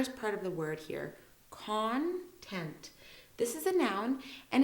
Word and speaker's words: content: part of the word so the tent part so this one we go through it really fast content there's a lot of emphasis on that and basically it's an